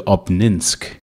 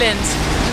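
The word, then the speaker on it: Обнинск: We had a two-hour drive to Obninsk.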